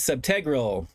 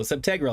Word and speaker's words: subtegral: The tag is subtegral. It's pronounced teg, not teague. Okay, very cool. Subtegral.